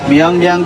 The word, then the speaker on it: Myeongdong: कुछ तो प्रोनाउंस भी नहीं करने आते हैं. म्योंगडोंग तो मैं उसको बोलता हूँ MYEONG.